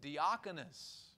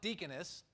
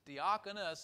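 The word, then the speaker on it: διάκονος: we were studying was deoconus theoconus not deaconess deoconus it's not a feminine word it's not a uh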